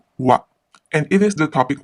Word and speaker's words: は: This is the ha syllable, but since it is a particle, it is read as wa, and it is the topic marker of the sentence.